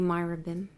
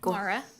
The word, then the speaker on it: Mara: Are you Myrabim? Did I pronounce that right? Mara.